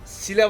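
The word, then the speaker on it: Síle: Sile var ya hani bu Cyber Floatsam'da bize ilk boss'umuzu öldürürken yardım eden gacı var ya. Bu o. Sile diye yazılıyor da Sil nasıl okunuyorsa o bu gacı.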